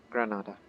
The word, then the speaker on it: Granada: Granada. You got the pronunciation correct.